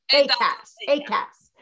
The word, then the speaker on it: AKAS: and with Adi Kassova to this audience strategy, AKS. Is that how you say it? Or do you say AKS? AKS.